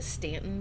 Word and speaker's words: Staunton: Kind of close to Stanton, Virginia, or if you're just reading the signs and have never talked to anyone from Virginia, it's spelled Staunton.